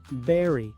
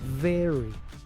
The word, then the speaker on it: very: Muchos pronuncian esta palabra berry, pero la v se pronuncia como una fuave. Very.